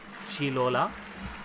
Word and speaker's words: Gigliola: Hello, Gigliola. That's how Famicom told me your name was supposed to be pronounced.